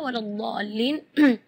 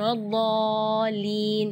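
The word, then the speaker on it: وَلَا الضَّالِّين: Di kalimat ini juga waladdallin yang perlu diperhatikan adalah madnya juga. Mad di situ kita harus panjang membacanya 6 harakat, karena di situ hukumnya mad lazim kalimi mutsaqqal. Jadi membacanya waladh 6 harakat. Terus setelah waladh di situ ada huruf lam yang ada di atasnya ada tasydid. Itu seringkali ketinggalan waladhdallin. Nah, itu berarti tidak ada tasydidnya. Waladhdallin.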